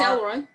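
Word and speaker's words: El Roi: Yeah, because one of the names of God is El Roy, or El Roy. I don't know how to say it. That's right. It's El Roy.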